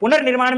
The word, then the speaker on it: पुनर्निर्माण: देखिए क्या लिखा है? पुनर्निर्माण। यह है उच्चारण कांसेप्ट पुनर निर्माण। अब हमारे हिंदी में होता क्या है? र जो बोला जाता है ये स्वर रहित है।